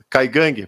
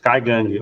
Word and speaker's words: Kaingang: Os eh Kaigang, pronúncia correta? Isso. Kaigue ou Kaigang, né?